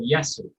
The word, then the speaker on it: Yasu: More importantly, my son, 8 years old in May, is called Yasu. Now, Yasu is spelled Y-A-S-U.